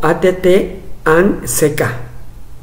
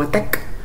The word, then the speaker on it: ATT&CK: eso es que te digo que muchos lo pronuncian como att and seca no por el expulsado por el símbolo de